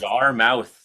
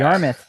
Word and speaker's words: Yarmouth: I know it's in Nova Scotia, but it's Yarmouth. Is that right? Is that how you pronounce Yarmouth? that? Yarmouth. That's how you say it. Yeah. Yarmouth.